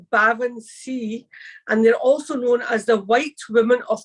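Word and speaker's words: baobhan sith: t h but it's the legendary and it's pronounced bavan C and they're also known as the white woman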